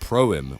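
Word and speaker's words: פרחים: Next up, we've got Flowers, or as it's actually pronounced, Promim, which means Flowers in Hebrew.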